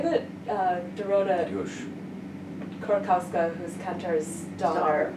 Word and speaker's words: Kantor: Korkowska, who's Kantor's daughter, Right. says it, I will approximate as close as I can. She says Tadeusz Kantor.